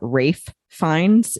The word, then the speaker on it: Ralph Fiennes: You know, and especially knowing that it was starring, I think you pronounce his name, Ralph Fiennes, even though it's spelled Ralph.